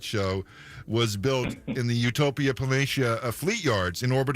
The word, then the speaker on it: Utopia Planitia: release I played let me see if I pronounced it right utopia planitia is that right yeah now the reason I